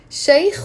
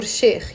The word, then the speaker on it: Sheikh: Sheikh or Sheikh.